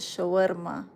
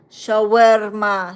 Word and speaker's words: shawarma: You can't even pronounce it. Shawarma. Shawarma.